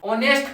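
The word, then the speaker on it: honest: ऑनेस्ट का pronunciation ओ अर्थात स्वर ध्वनि आ रहा है, वोवेल साउंड आ रहा है, इसलिए मैंने एन प्रयोग किया।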